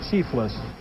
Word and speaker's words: Chifles: and that's the pronunciation how are these things pronounced chiefless chief place and these are plantains